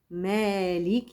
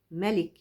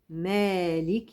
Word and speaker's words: مالك: ميم الف لام كاف ولكن الالف الماديه بتكتب على جسم الميم مالك يوم الدين هو حد يفتكر ان الكلمه ملك لا هناك قراءات اخرى بتنطق بدون الالف ملك يوم الدين ولكن عاصم القارئ العظيم اللي احنا بنقرا تبعه حفص عن عاصم بيقرا بالالف مالك يوم الدين يبقى لازم امد مد طبيعي يمد حركتين زمن حركتين مالكي مالك